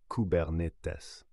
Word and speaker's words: Kubernetes: Prononcé cubernetes.